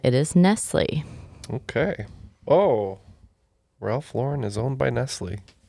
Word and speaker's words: Ralph Lauren: someone can't afford Ralph Lauren if they say Ralph Lauren because it's pronounced Ralph Lauren anyway I thought it was funny because I was like oh for years I pronounced It Ralph luren go figure all right after the swing round